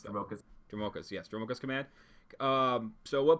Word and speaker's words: Dromoka: You had one, the green-white command, Drachmos? I can't pronounce that. Dromokas, yes, Dromokas command.